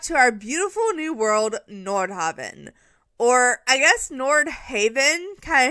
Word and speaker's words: Nordhaven: But when the gameplay trailer came out, they pronounced it Nordhaven, and we were like, oh, oops, we all got that wrong.